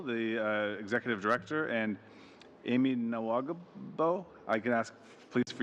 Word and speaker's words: Nahwegahbow: specifically Lynn Gruel, the Executive Director, and Amy Nawagabo. I can ask, please, for you to guide me on the pronunciation of your last name. Nawagabo.